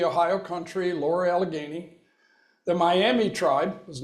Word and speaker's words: Miami: The Miami tribe was not Miami, Florida. All right, the Maumee is another way it's been pronounced.